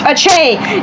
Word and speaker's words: Aceh: Yes, it's pronounced Aceh, not okay, okay?